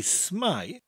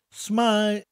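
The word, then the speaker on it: s'mae: saying hello every time I wanted to say smile the image of James Bond would then come to my mind of him saying hello in Welsh and I would instantly say smile smile for the next few phrases we need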